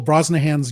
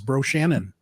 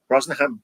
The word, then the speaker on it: Brosnahan: Marcus, what did you think of Rachel Brosnahan's job as Lois Lane, and why do I keep wanting to pronounce her name as Bro Shannon?